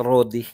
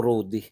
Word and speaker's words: Rody: talaga eh Rody e ganun po talaga ang pagbigkas rodi Hindi po rudi okay Ah meron bilyon-bilyon